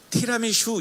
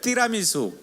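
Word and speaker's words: tiramisù: 미숙아 넓디 라든지 여러분 드라 미소 아시죠 티라미슈 이 게 아니에요 어리지 날 발음이 뛰라는 수에 따라 미수 이 개리 말해요 한번 따라서 해볼까요 티라미수 에 바로 아주 고신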